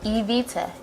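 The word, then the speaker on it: Ebita: I got my name most people do not know how to pronounce our name and then bugs me like really really bad and they'd be like II got it and I'm like well it's Evita e/b ITA my friends they call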